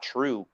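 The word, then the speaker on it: TRVE: a little portion about true which again it's t-r-v-e but in scotland here the v is pronounced as the letter u the letter u they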